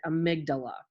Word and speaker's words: amygdala: of a funny word it looks like it's amy something but you pronounce it amygdala and we're going to